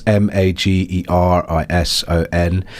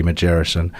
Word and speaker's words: Magerison: That's Magerison. It's a soft G, I think. So a lot of people try and call me Magerison. I think this is the hard G. It's a soft G, Magerison. And I'm on all social media and streaming platforms.